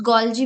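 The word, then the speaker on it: Golgi: Second is गॉल्गी complex और गॉल्गी अपेरेटिस। कुछ गॉल्जी भी बोलते हैं इसको। इट्स अप टू यू। आप कोई भी कुछ भी प्रोनाउंस कर सकते हो।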